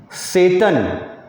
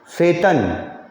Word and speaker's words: Tsetan: ठीक है, तो इसको पढ़ेंगे हम लोग, इस नाम को पढ़ेंगे सेतन। टी हटा के तुम आराम से पढ़ लो, सेतन। चाहे तिब्बतन नेम है।